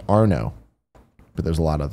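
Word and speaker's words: Arnaud: on my stroke game his PSN name is AR na UD one two one eight it's pronounced are no but there's a lot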